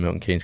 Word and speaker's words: Milton Keynes: way I believe so Haynes and Keynes but we say Milton Keynes and we say Ashton Keynes we do what's your